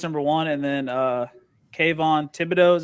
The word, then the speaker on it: Kayvon Thibodeaux: adrian hutchinson goes number one and then uh kayvon thibodeaux is how you pronounce that sure number number two uh i